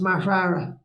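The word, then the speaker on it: Mag Tuired: Right, so it's Mar-Tura. Mar-Tura. You should have written these phonetically. No. You've seen my name, Dale. I mean, if I can pronounce that, I can get my head around it. Mar-Tura is how it's pronounced.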